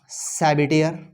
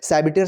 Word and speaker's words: Sabatier: एक वर्ड आएगा सैबिटियर, एक इंपॉर्टेंट रिएक्शन है मेरे पास सैबिटियर, इसकी स्पेलिंग जरा चेक कर लेना, SABATIER, सैबिटियर सैंड्रेंस,